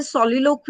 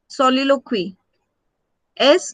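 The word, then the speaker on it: soliloquy: we have particular term for that that इ सोलोक यू can write the spelling सॉलक्स ओ एल आई एस ओ एल आई एल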